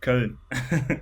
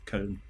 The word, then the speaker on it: Köln: Yes, Köln. That's how you pronounce it properly. Yeah. It's with the O with the 2 dots, Köln.